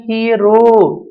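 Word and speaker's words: hero: देखिए इस वर्ड का प्रोनाउंसिएशन हीरो नहीं है, इसका प्रोनाउंसिएशन है हीरो। एच, फिर डिप्थोंग आएगी ईयर, आई और रिवर्स सिक्स ही है, रे और ओ, इसका फोनेटिक सिंबल होगा हीरो, पहले ही होगा। हीरो इसका प्रोनाउंसिएशन नहीं है, ध्यान रखना, हीरो नॉट ए हीरो।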